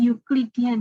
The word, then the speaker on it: Euclidean: Sebenarnya bacanya Euclidean ya.